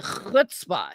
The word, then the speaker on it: chutzpah: No, it's actually chutzpah. You have to actually kind of clear your throat a little bit, like you've got some phlegm or something. Chutzpah is how you say it.